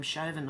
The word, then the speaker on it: Chauvin: who stabbed Derek Shin shovin what How's he how do you say his name shauvin I'd say 22 times